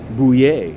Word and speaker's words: Buyer: now yesterday we covered the arraignment of a former indiana congressman stephen bouier it's spelled byer and he bought the